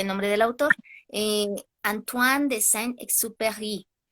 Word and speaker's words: Antoine de Saint-Exupéry: Disculpen si no lo pronuncio correctamente el nombre del autor, eh, Antoine de Saint-Exupéry o algo por el estilo.